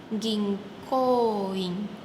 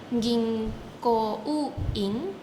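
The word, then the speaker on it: 銀行員: Bahasa Jepangnya adalah ging koing. Di situ ada huruf O bertemu huruf U. Bacanya bukan ging ko u in. Tapi O-nya panjang. O bertemu U dia akan menjadi O panjang.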